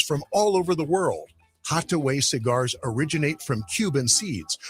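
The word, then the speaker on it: Hatuey: It's called Hataway Cigars. It's that little red place right there at 16th and V Streets. It's spelled H A T U E Y.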